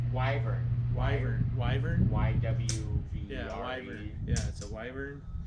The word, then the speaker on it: wyvern: I don't know how do you pronounce it? The Revan? What's the dragon that starts with W? Wyvern.